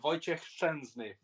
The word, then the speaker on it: Wojciech Szczęsny: Well, obviously he's former Arsenal keeper, but it's pronounced Wojciech Szczęsny.